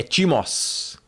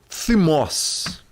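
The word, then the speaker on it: thymos: É timos. Na verdade se pronuncia thimos.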